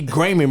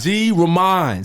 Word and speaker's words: G Raymon: it's cool it's cool how do you pronounce it g remind say that right don't call me grayman bro right he got